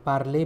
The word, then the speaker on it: parler: Parler means to speak. P-A-R-L-E-R. E-R is pronounced like A.